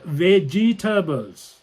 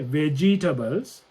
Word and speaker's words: vegetables: say this vegetables yeah it's not veggie turbos that's incorrect if you listen to any native speaker they won't say vegetables it's vegetables vegetables so that this e is a silent E so vegetables vegetables comfortable